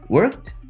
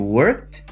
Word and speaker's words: worked: pouco que foi o worked e o traveled tá vendo que os dois tem Ed no final mas eles não t o mesmo som Eu também não falei